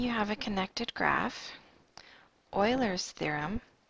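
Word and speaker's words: Euler: Assuming you have a connected graph, Oilers's theorem, I know that looks like Uler, but that's not how it's pronounced. It's pronounced Oiler.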